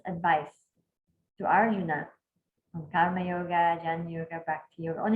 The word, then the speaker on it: yoga: Patanjali defines yoga as this, chapter 1, verse 2, yoga, chitta, vritti, nirodha. Okay? Or if you're from the north, you don't pronounce the last letter, so it's yog, chit, vritti, nirodha.